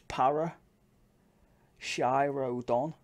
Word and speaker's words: Paracheirodon: you want to say it really so the pronunciation is power Shiro Don axle roadie Roddy or Road I people from